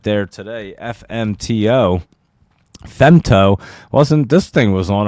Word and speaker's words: Femto: Femto is spelled FEMTO, but FMTO right there.